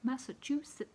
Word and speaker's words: Massachusetts: not from the UK Massachusetts which always seems to be pronounced without the t's but anyway I can't